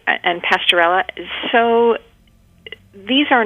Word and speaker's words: Pasteurella: know if a kitten had for example a pronunciation campy campylobacter infection or pasterella bacteria it's campylobacter you you got it right and pasteurella so these are not things that i would